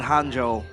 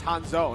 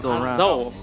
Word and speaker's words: Hanzo: It's Honja, not Hanjo. Cuz Hanjo is like the hero, the guy that can Yeah, that's Hanzo. Hanzo.